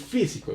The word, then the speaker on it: físico: dices físico ni físico, sino dices físico, es una palabra esdrújula.